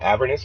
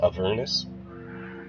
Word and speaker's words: Avernus: I keep saying Avernus, but I think it's actually pronounced Avernus.